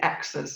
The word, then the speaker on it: ECCCSA: We pronounce it as the ECCCCSAs. It's been fondly called that for some years, so you can get your tongue around that.